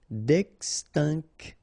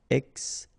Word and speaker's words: extinction: En voie, final E not pronounced, d'extinction. Okay, remember T-I-O-N, sion. Extinction.